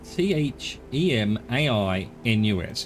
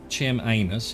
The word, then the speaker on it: Chemainus: i n u s it's not chem anus it's chemainus but I'm struggling to think of a way of pronouncing it that doesn't make it sound like Kim anus but my apologies to